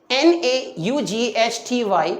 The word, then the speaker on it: knotty: NAUGHTY, it is pronounced as naughty, and KNOTTY, this is also being pronounced as naughty.